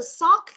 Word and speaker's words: sock: Thì các bạn chú ý cho cô, cái từ sock này mình có âm đuôi là gì đây? Âm k.